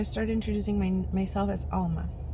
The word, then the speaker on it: Alma: And I pronounced my name Alma, you know, cuz the interaction was in English. And I remember my husband looking at me like, "Why are you saying it like that? That is that is so weird. Like, why are you pronouncing it like that?" Mhm. And I was like, "What do you mean?" Like, it didn't click. And then I was like, "Oh, Alma." And the girl's like, "Oh, Alma."